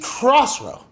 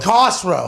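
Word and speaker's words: Cossrow: Keith Crossrow. Okay. What? Keith Cosrow. No, Cosrow. Cosrow.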